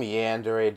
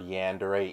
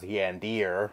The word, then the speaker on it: Yandere: the fuck the word Yandere even meant. I always associated the word with this guy, and for the longest time I was pronouncing it as Yandir.